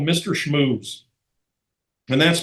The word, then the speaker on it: Schmooze: Schmooze. And that's spelled SHMOOZE, Mr. Schmooze.